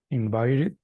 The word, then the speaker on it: invited: wish option and the first option can you pronounce it please invited perfect that's the one excellent uh-huh who else